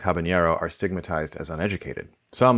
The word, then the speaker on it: habanero: The name describes something from Havana, which isn't pronounced in the source language with a ny, but the most common nativeization in English does have that sound.